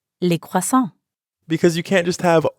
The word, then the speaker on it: croissants: Here, coûte ends in ENT, and croissant ends in S. But we don't pronounce those letters at the end, which we know sometimes happens in French.